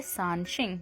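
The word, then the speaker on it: 三星: इसमें हमारे पास जो फर्स्ट वर्ड है शानशिंग।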